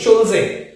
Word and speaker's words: Schulze: Hardy और इस word की प्रोनाउंसिएशन होती है शुल्जे, SHULZE, शुल्जे रूल।